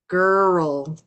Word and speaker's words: girl: argue with me, but it's really two syllables. It's girl and world and curl and correl. It's not just one syllable.